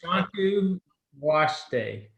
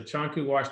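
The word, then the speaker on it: Chanku Wasté: Yeah, it's Chanku Waste. It's spelled like W-A-S-T, so it looks like waste, but it's got an accent mark over the E. So Chanku Waste, it means the good road.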